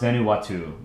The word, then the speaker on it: Vanuatu: It's pronounced Vanuatu. Okay. Vanuatu. Vanuatu.